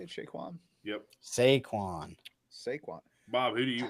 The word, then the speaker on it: Saquon: Saquon.